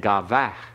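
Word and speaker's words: gavoah: And gavach with a breath.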